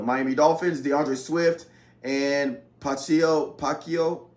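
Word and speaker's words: Pacheco: Then you got Mostert for the Miami Dolphins, DeAndre Swift, and Pacquiao. I believe is how you say his name, for the Kansas City Chiefs.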